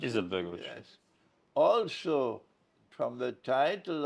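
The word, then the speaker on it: Alija Izetbegović: Alia Izetbegovic, how you pronounce it? Izetbegovic.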